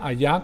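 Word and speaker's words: היה: así como se pronuncia allá como si fuera ya en español pero es h y a h allá es el mismo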